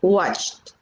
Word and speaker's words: watched: pero se escribe watched, pero la pronunciación es watched, como si fuera una t al final, ¿sí?